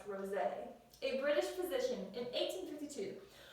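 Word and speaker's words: Roget: I needed the pronunciation for that last word because I was saying rojette or something like that. That's why we need the pronunciation guide so he can help us know how to say it. So that last name is pronounced Rosé.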